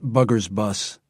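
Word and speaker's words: Bourguébus: main enemy gunline along the Burgaboose ridge, inevitably pronounced Bugger's bus.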